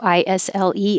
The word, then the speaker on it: isle: And also ISLE, as in an island, isle.